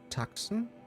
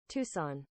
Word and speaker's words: Tucson: Is this Tucson?